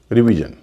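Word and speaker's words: revision: confirm करते हैं जैसे आर ई वी आई एस आई ओ एन रिवीजन इसमें एस आई एन से पहले दो वल है ई और आई उच्चारण हो रहा ऋ रिलेशन इसको भी रिलेशन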